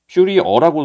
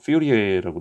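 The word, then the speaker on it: Fourier: 퓨리 어라고 쓰기도 하고 퓨리 에라고도 하는데 이게 프랑스 사람인지 하여튼간 발음이 좀 그래요. 퓨리에라고 돼 있는데이 퓨리어 급수라고 보통 이걸 쓰게 됩니다.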